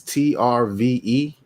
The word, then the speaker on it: TRVE: It's TRVE Brewing. Yeah, TRVE. It's in the vowel. Trev. It's in the vowel. Trev, baby. That's Trev.